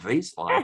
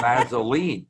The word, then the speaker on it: Vaseline: It's not Vaseline, it's Vaseline. You add a syllable, you flatten out the vowels.